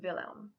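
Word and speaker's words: Wilhelm: spelled wilh e.l.m and that particular spelling can also be pronounced villain of course I think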